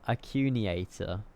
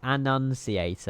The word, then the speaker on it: annunciator: Annunciator. Annunciator. There we go. Not a local heading. Heading mode, Rev. God, the bullying in chat is pronounced like announcement. Announcement.